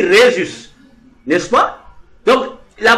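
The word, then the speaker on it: Jesús: utilisent les langues espagnoles ils écrivent Jésus mais il prononce sa Rhésus est prononcé r il dit Rhésus n'est-ce pas donc la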